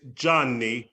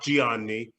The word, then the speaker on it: Gianni: can't hear you um it's johnny not gianni it's john nice geeky exactly the eye is silent the eye has changes the quality of the jaw so johnny okay because i'm you're